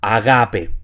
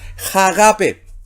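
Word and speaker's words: ἀγάπη: Así que en este caso la palabra sería agape. ¿Ya? Usted diría, ¿y por qué no es jagape? Si lleva espíritu. Sí, pero en este caso lleva espíritu suave y el espíritu suave no se pronuncia.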